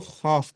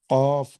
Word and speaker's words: قاف: آپ کی زبان۔ قاف، قاف کو بعض لوگ خاف پڑھتے ہیں، ٹھیک ہے، یہ طریقہ، یہ تلفظ بالکل درست نہیں ہے، بلکہ قاف کو قاف کی طرح ہی پڑھنا چاہیے۔ اگر پریکٹس نہیں ہے